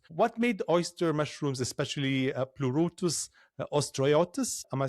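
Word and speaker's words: Pleurotus ostreatus: What made oyster mushrooms especially plurus ostriotus?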